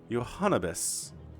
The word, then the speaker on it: Johannibis: Johannibis. It is like cannabis, isn't it?